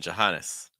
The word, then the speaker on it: Johannes: Sil again and then Johannes Johannes very weak first Johannes Maria we've seen